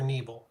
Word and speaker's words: Neville: Is it Neville or Neble? Neville. Neville. Okay.